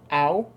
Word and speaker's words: Ao: so as far as the traditional pronunciation of how that's spelled, it's Ao. It is Ao. Okay. Yeah, so it's Owl the Dawn Sky.